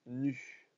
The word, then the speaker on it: nu: Ça se prononce nu.